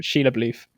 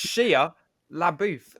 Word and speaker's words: Shia LaBeouf: Sheila Bluth. Bro, no, it's like it's Shia LaBeouf. It literally like says that.